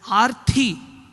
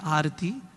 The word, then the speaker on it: Arati: The word Arti, if we slightly mispronounce it as Arthi, can mean difficulty. So one of the feelings behind Arati is Swami.